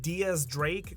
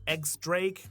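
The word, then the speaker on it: X Drake: This member of the Worst Generation's name is actually pronounced "Diez Drake", not "Ex-Drake" Diez, being Spanish for the number ten and the letter X being the Roman Numeral for ten.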